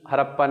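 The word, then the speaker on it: Harappa: हड़प्पा इसे कहते हैं, इंग्लिश में हड़प्पा प्रोनाउंसिएशन होता है, हड़प्पा।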